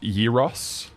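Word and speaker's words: gyros: It's pronounced Yiros.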